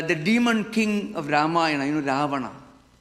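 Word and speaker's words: Ravana: demon king of Rama Rahana. So Khalidas was so stupid that he could not even pronounce properly Rahana. So he pronounced Raana because he could not pronounce correctly.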